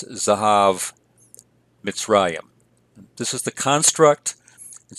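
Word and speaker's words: זהב מצרים: So if we have a full vowel in an originally open syllable that becomes pro-pretonic, that vowel typically reduces. And so here we have it reduced to a vocal schwa. So it's Zahav Mitzrayim.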